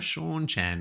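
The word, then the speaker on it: Seanchan: I was like ah Shaun Chan not Chan.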